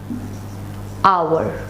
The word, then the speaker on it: hour: When we say an hour, although it begins with a H, which is technically not a vowel, it is a consonant, but we do not pronounce the H while we are saying it.